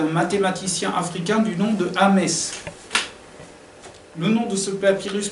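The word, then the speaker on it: Ahmes: Alors Ames se prononce Yamesu en langue africaine antique, hein, bien sûr.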